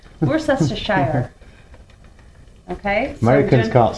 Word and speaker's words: Worcestershire: And then you're going to add some Worcestershire. How do you say it? Worcestershire. Worcester. Worcestershire.